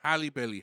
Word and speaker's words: Halle Bailey: Halle Bailey.